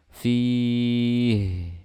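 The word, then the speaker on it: فيه: Fi, jangan dibaca syiddah ha-nya. Fi, fi. Nah, biasanya seperti itu. Kebanyakan seperti itu cara bacanya. Enggak dialirkan suara ha-nya. Jadi fi, seperti itu.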